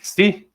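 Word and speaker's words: ξῖ: É, quando a gente quiser pronunciar o xi, é táxi. É só lembrar da palavra táxi.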